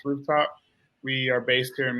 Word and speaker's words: RFTP: I am the founder and managing director of RFTP, pronounced Rooftop.